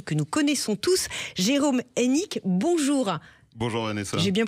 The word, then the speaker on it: Hénique: orange l'opérateur télécom que nous connaissons tous Jérôme enck bonjour bonjour Vanessa j'ai bien prononcé votre nom c'est ça monsieur directeur général